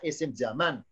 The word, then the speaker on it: isim zaman: Ismuz zamani bacanya isim zaman.